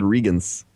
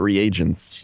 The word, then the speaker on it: reagents: It's like reagents. I always said Regans, not reagents.